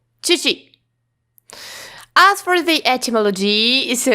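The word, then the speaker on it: 父: So Chinese pronunciation is hu and Japanese pronunciation is chichi.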